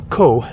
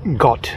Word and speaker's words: Ko: PP lay Island so KO means Island in Thai except that that isn't actually exactly accurate it's a mispronunciation it's more like got something like that so this is where